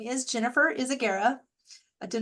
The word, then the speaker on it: Izaguirre: well again you'll you my name is Jennifer is Agera I did not expect anybody to know how to spell that but if you go to the lighthous